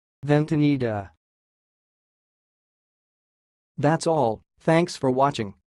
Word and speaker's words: ventanita: of this word is sounds like vent Anita then tanida here we go again vente needa vente needa that's all thanks for